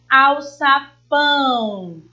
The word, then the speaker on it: alçapão: Alçapão, livro e pássaro. No item A palavra são oxítonas, porque a sílaba tônica é a última. Alçapão.